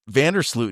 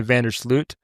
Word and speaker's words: Vander Sloot: We just got back from Europe last week, and they told me I say my name wrong. So I say Vandersloot, but it should be Vandersloot, apparently, according to them.